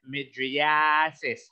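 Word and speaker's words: mydriasis: Take note of how I pronounce it, midriasis. My mouth dilates. Asis.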